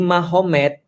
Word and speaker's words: Magomed: Kalau kita tahu artinya ma berarti di sana Muhammad jadi Mahomed. Jadi tulisnya Magomet tapi bacanya Mahomed kan gitu kan ya.